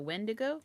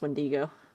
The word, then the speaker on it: wendigo: Beast there's that dude um you mean the wind to go it's it's pronounced wendigo oh I am pronouncing it wrong I did